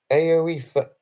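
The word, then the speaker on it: Aoife: Oh, it's pronounced Aoifa.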